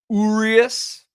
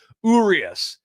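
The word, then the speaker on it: Urías: Urias. Everybody says it differently. I don't even know if there is a right way, but Urias is kind of how phonetically it's spelled.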